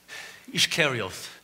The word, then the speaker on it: Iscariot: southern Palestine carry off my name would be better pronounced Judas Iscariot in other words Judas the one from carry off I'll never forget that